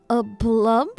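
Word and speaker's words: aplomb: A plump. A plump. Poise. Self-possession. Coolness. Assurance. A plum. A plum. I've never seen that word in my life. B is silent.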